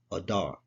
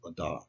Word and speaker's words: Adar: This is a olive, a dalet, and a resh. If you put those together, it's Adar. Okay, that's how you pronounce it, Adar.